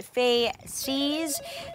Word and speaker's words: Faces: I'm all over that it's actually pronounced faes the active ingredient is